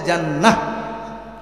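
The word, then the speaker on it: جنة: জান্নাত এটার আরবি উচ্চারণও জান্নাত, কিন্তু অক্ফ করলে জান্নাহ, অক্ফ করলে وَأَبْشِرُوا بِالْجَنَّةِ الَّتِي كُنتُمْ تُوعَدُونَ।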